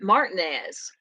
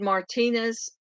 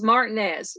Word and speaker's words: Martinez: live in the area we pronounce it Martinez and I don't know why when we moved here uh the first time I said Martinez they're like that's not how you say it so it's Martinez we're Martinez Georgia um